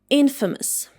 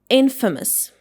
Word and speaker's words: infamous: And it should be pronounced like infamous. Infamous.